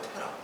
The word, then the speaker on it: 테라: 발음은 테라예요. 테라. 맥주 있죠? 맥주. 테라 맥주. 테라 맥주를 보면서 아브라함의 아버지구나 생각하시면 됩니다.